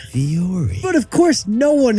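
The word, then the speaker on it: Vuori: Yeah, it's not Vuri, it's not Vowry, it's actually Viore. Viore.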